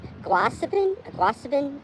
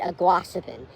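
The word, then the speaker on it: Aguasabon: I kept calling it Aguasabin for a while. I don't know how to pronounce it, but our GPS thing said Aguasabin, and it takes a while to get used to saying it like that.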